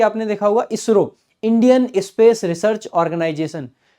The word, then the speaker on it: ISRO: जैसे कि आपने देखा होगा इसरो, Indian space research organisation, लेकिन उसको कभी हम ISRO नहीं पढ़ेंगे। आप जब भी ऐसे लिखा देखोगे आप इसको इसरो पढ़ते हो, आप पढ़ोगे नाबार्ड,